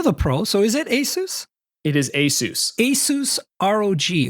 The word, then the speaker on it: ASUS: all of this stuff, I learned how to pronounce ASUS properly on my first day of the job when HR correct. So, that's the other thing that I tend to call it ASUS, but some people say ASUS and you're the pro.